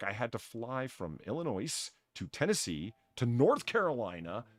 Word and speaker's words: Illinois: TSA agents working foreign the S is silent that's not it's Illinois I'm with you and